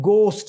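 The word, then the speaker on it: ghost: जी उसके बाद है गोस्ट इसमें एच साइलेंट है गोस्ट डू यू बिलीव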